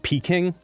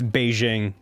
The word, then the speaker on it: Beijing: Nanjing, which was called Nanking because it's like Beijing used to be called Peking. Have you ever heard of Peking duck? Oh, shit. That's Beijing.